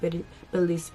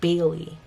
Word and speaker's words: Bailey: I love Billy's. Why do I keep saying Billy? Every time I try to say her name, I always say Billy instead of Bailey.